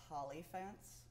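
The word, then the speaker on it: Hollyphant: Have you ever heard of Holly Fence? It rhymes with pants.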